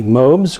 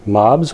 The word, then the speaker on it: mobs: one quick last look at the mobes or mobs whichever way you want to pronounce it mobes is technically correct but I don't care which way you pronounce it either way is perfectly fine and uh there's nothing